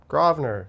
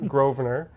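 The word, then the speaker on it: Grosvenor: How do you say gr Yeah, Grroer. Not Grovener. Not Gravener. Grner. Groer.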